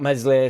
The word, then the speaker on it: Meslier: Meslier silent S with a massive save.